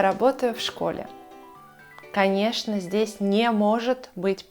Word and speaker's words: в школе: Поэтому мы произносим предлог и слово вместе. В школе. Наша «в» превращается в «ф», и это нормально, потому что так нам удобнее произносить это слово.